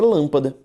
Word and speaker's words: lâmpada: Por exemplo, na palavra lâmpada. Na palavra lâmpada, eu tenho uma palavra proparoxítona, porque a sílaba tônica é a antepenúltima.